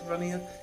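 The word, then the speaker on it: Runnea: a website called um runia I think it's runia it's spelled r u n n e a which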